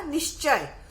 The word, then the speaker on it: निश्चय: यहाँ नहीं लिख सकते, तो उसका उच्चारण होगा निश्चय।